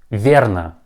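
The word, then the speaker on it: верно: answered correctly and your teacher tells you that verna verna or pravilna pravilla pay attention there that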